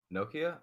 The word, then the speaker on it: Nokia: Nokia?